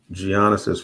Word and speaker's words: Giannis: So the other thing is with Giannis's free throws.